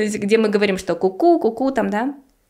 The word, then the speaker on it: CouCou: во-первых чтобы запомнили название Куку Да потому что оно читается по-французски соответственно Мне нужно просто затвердить что это не коу-коу или не Соу Да что Это куку то есть Первое -